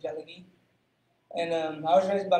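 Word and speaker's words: Tsalagi: It's Cherokee. It's just how you say it in Cherokee, Jalagee.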